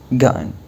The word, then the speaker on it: gotten: What has gotten into you، أو ممكن تقول what has gotten into you، لكن النيتيفز ينطقوها كأنها همزة gotten عشان السرعة.